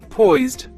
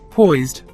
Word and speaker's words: poised: It's a one-syllable word. The pronunciation is poised. Say it with me, poised.